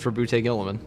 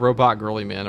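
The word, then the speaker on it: Roboute Guilliman: It's for boute gillaman. That's how it's pronounced. It's not robot girly man or robo girly man or robo gorilla man.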